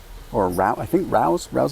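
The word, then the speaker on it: Rao's: Okay, this first one is this Rouse is how you say it, Alfredo sauce.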